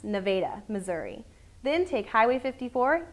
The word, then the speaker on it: Nevada: Stay on I 49 all the way to Nevada and it is pronounced Nevada, Missouri.